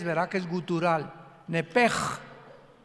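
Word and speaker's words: נפש: en el hebreo es nepesh, con SH al final, como suena nepesh. Pero la SH en hebreo se pronuncia como J, entonces se pronuncia nepej, como el francés, ¿verdad? Que es gutural, nepej.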